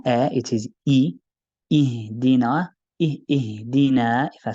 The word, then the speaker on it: اهدنا: we have here in ihdina, which is the bottom of the throat, closest to the chest. So you should sort of feel something right near your chest when you say ihdina.